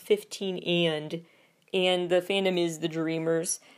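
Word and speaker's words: 15&: 15 with an ampersand is actually pronounced 15 and the fandom is the Dreamers.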